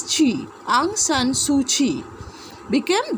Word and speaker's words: Kyi: In the late 1980s, Aung San Suu Kyi, Kye, but the pronunciation is Chi, Aung San Suu Kyi, became the leader of the Burmese National League for Democracy but was imprisoned.